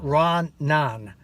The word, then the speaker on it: ranan: It's pronounced Ranan, which is R-A-N-A-N, and it means actually two things.